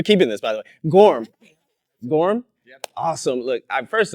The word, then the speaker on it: Gorham: Gorham.